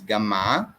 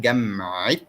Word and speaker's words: جامعة: If you notice, I said جامعة because ta marbuta is pronounced when it's belonging to something. So the University of New York, this of, we pronounce the ta marbuta.